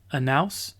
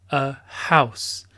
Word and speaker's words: house: Et donc, remarquez que le H est prononcé en anglais. On ne dit pas an house, non, on dit a house.